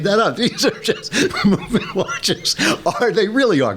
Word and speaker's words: MVMT: And the best way to get a watch as at movement. Movement is spelled M VMT. They take out the O and the E and the N because you're going to